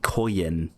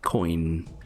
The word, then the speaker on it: coin: I say koyin. Koyin. Apparently that's wrong, but literally my whole life I've said koyin. Like, I pronounced it as if it has 2 syllables, but apparently it's just, you know, it's supposed to be said like coin, which I don't know, I just find weird.